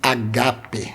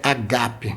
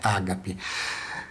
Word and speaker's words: agape: muito cheia carregada de agape agape amor de Deus a pronúncia é agape mesmo tá bom não é Ágape Ágape a gente está